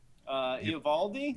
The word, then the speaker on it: Eovaldi: How do you pronounce his last name? Eovaldi. Eovaldi.